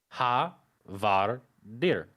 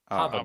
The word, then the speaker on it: Havadir: It is pronounced Ha Var Dir. Havadir.